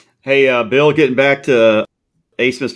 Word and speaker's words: Abmas: For Texas, ABMAS, and his name is pronounced Asmus.